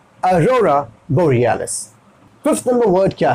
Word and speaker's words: borealis: साथ में होगा अरोरा बोरियालिस, अरोरा बोरियालिस, आपका प्रोनाउंसिएशन थोड़ा सा बेहतर होना चाहिए, ठीक है? तो ये हो गया बोरियालिस, बोरियालिस, यहाँ पे देखिए डबल ई है, टालना पड़ेगा, बोरियालिस Arora बोरियालिस Arora बोरियालिस।